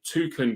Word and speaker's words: toucan: talk about is a tuen Crossing now a tuen crossing the easiest way to remember this is two can cross okay so it's not